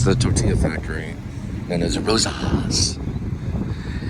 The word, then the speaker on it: Rosa's: And there's Rosa's. If you say it wrong, it sounds like Rosie, but it's actually Rosa.